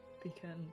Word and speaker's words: pecan: Well, the actually- poll said pecan is the correct pronunciation.